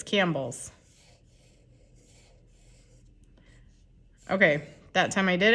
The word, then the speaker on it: Campbell's: That's what it looks like, but it's Campbell's.